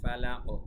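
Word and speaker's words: فلق: বিরাব্বিল ফালাক, কলকলা শেষ অক্ষরে ফালাক।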